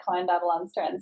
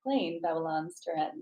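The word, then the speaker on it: Klein Babylonstoren: and the entire time i've been calling it klein babylon's trend so i apologize for that for everybody who i have mispronounced this wine to give this clean bevel on strand so i love how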